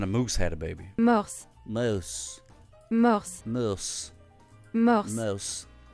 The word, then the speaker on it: morse: Morse. Morse. Morse. Morse. Merry Christmas. Oh, my goodness gracious. Morse. Morse. Morse. Morse. Morse. Morse like the code, but you pronounce it